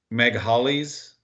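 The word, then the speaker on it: Magalies: a strong accent uh they pronounce it like Meg Hollies but it's m-a-g-a-l-i-e-s glider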